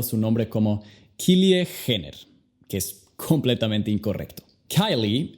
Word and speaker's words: Jenner: La J en su apellido, ya sabes, suena como J, y luego al final tienes la R. Entonces, el apellido, Jenner. Kylie Jenner.